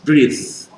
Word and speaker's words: breathe: Ini breath tidak bergetar, letakkan tangan di Adam's apple, di jakun, kemudian di sini breathe, beda.